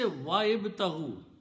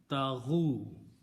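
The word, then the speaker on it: وابتغوا: Then you can say wa'ibtahu. There is nothing wrong in that. But in the tajweed, you don't need to pronounce this, and this will change to a hamzatul wasl. And now you pronounce wabtahu.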